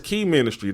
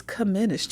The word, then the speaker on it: Che-ministry: They're like, yeah, the name of the show is Key Ministry. Don't make sure you say it right when Chanel get here. No, it's Comministry.